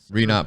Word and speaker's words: Renot: I brought my boy, custom shoemaker and designer, Renot Productions. There you go. Did I say it right? Thanks for having me, Lo. I got it? Yes, sir. Oh, man. Renot Prodx.